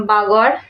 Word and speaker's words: बागौड़: चौपानी मांडो के बाद आता है आपका बागौड़। अब देखो बागौड़ को कुछ लोग बागड़ भी बोलते हैं, तो जिस तरीके से इसकी स्पेलिंग है तो फिर मैं बागौड़ बोल रही हूँ, बट बागड़ भी कहते हैं।